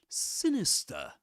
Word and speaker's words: sinister: So that speaker says sinister. He doesn't say sinister. Now let's play the American the US pronunciation. Sinister. Sinister. Sinister. Sinister. Do you notice the final R?